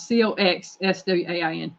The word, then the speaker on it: coxswain: Yeah, it sounds one way while it's spelled another way. Oh, you put the spelling in there? Yeah, I spelled it out. Coxswain, coxswain.